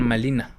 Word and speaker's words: Malina: Los castellanos le llamarían de ahora en adelante Marina, pero por cuestiones fonéticas de las lenguas prehispánicas, donde no se pronunciaba la r entre los indígenas y ella misma al presentarse pronunciaban malina.